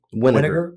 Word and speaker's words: Winegar: Is it pronounced Winegar? Winegar.